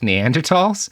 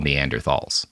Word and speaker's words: Neanderthals: where he had proposed bringing back Neanderls which people always get angry are like Robert you're mispronouncing it again. That is how you say what most people call Neanderthalss.